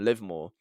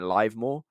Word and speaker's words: Livmore: if I'm being honest it took me ages to actually realize that's how you pronounce it cuz for when I was initially reading the article I kept saying live more and yeah no you